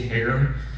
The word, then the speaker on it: Her: Hair. My last name is pronounced hair spelled H E R.